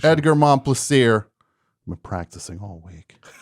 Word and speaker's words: Edgar Momplaisir: and Edgar Momplaisir. Fantastic pronunciation. Edgar Momplaisir.